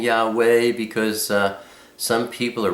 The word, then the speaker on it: Yahweh: you'll see me, uh saying Yahwa. That's always my way of pronouncing the father's name because, uh my jetu, my grandfather, taught me how to say that name.